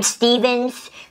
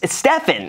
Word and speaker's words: Stephan: Most people are like, Stephens. Stephenson. So what? There's no, like, it's Stephan. It's like, even the Stephen, like, okay, I can get that. But people call me, like, Stephens. I'm like, there's not even an S.